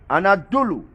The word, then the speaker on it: Anadolu: pronounce this anatolians and adulu inside turkish they pronounce the name anadolu also called asian minor the anatomians people here